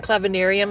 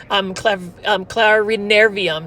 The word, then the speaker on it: clarinervium: They've got fertilizers, they've got soils, and they've got Anthurium clavinarum hybrids. So these are all seedlings from Anthurium clarinervium. Sorry, that's how you pronounce it.